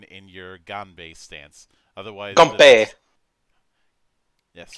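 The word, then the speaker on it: 干杯: Otherwise, Ganbei. Yes. As in the Chinese pronunciation of the same thing we hear from Japan as Ganbei.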